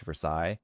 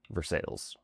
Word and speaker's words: Versailles: And then while the French palace is pronounced Versailles, local residents quickly adapted their own pronunciation, Versailles.